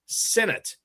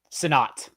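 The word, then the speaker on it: Sinnott: What about John Bates versus Ben Sinnate? Uh, is it Sinnate or Sonat? John? Senate. SAT. Okay. Hey, Ben Sonat. I will not pronounce that Sinnate again.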